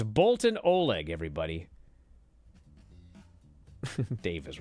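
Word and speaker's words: Boltin Oleg: and by the way it's Bolton Oleg I don't care what Dave said it's Bolton Oleg what are you gonna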